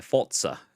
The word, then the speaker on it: Forza: And then you get that with Forza Horizon, not Forza, the Forza games, or so to say Forza, if we want to pronounce it properly.